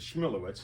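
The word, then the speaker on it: Schmulowitz: Schmulewitz, as I pronounce it.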